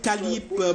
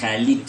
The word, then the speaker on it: Khalid: Dernier invité sur ce plateau, Khalib. Bonsoir et bienvenue. Bonsoir frère Arnaud et bonsoir les téléspectateurs de Canal 2. Je rectifie légèrement Khalid avec D. Khalid.